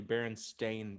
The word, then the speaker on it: Berenstain: Did you pronounce it Berenstein? No, it should have been Stein, but Okay, but like it was actually Berenstain Bears. STAIN.